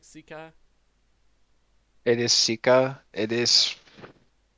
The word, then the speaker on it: Sika: Sika.